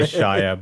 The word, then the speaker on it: Shia: I was I was I was trying to say Shia but his name rhymes with Messiah so came out that